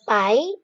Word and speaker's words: pi: the fourth column of the table so Pi is spelled as pie p i and is read as Pi p